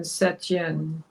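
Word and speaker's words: Saint-Étienne: Saint Etienne, French pronunciation Setien.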